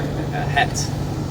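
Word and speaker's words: ח: You know, here we have the Hebrew letter Het. You know, the C is silent. It's like Chet.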